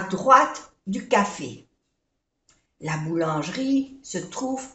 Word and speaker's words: boulangerie: Boulangerie. O-U-U. A-N-A. Boulangerie. Jri. Boulangerie. No se pronuncia estas dos E.